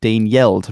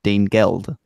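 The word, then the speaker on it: Danegeld: So like, would you say, Kevin, that they would have pronounced it Dane Yeld rather than Dane Geld? Oh yeah, most likely, because you know, Old English and Old Frisian, you had palatalization.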